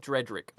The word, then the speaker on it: Dredrick: yes their name is dredrick dread drink okay yeah it's spelled like Dread b-r-e-a-d then Drake d-r-i-c-k what are you crying